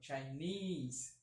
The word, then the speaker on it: Chinese: O forte é aqui, ó, Chinese, certo?